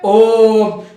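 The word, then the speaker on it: ॐ: अगर इस ओम को कोई ओम बोलता है तो वो गलत उच्चारण है, उसका सही उच्चारण क्या है? ओम।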